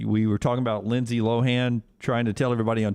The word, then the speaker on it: Lohan: were talking about lindsay lohan trying to tell everybody on tick tock her she pronounces pronounces her name lindsay lohan not lohan and lt said did